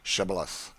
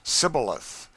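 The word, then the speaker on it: Shibboleth: let none pass who could not say shibilith. The Ephraimites being of a different tribe could not frame to pronounce the word right, but called it cibilith, which proved them enemies and cost them their lives.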